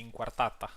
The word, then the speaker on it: Inquartata: I should say Inquartata, which is the which is how I would pronounce it in my own language as well.